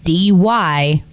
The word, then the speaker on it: Dyrt: We do big rallies with a bunch of campers, and man, it would be cool to have the Dyrt there.